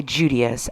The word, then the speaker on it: Judias: attain what she coveted I have heard some people pronounce her name as judias or judias but I'm going to say judias as it is the closest thing to Judas which is a pretty